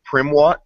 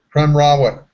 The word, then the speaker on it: Prem Rawat: I don't imagine that I will, but I'm curious about the and pardon me if I'm mispronouncing the name, but Primwat? Prem Rawat.